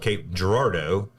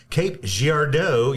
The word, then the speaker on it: Cape Girardeau: So locals here, we call it Cape Gerardo, but a lot of times whenever someone else is trying to pronounce it or you like the funniest thing was like the infomercials on TV, if it ever referenced Cape Gard, it was always Cape Giardo.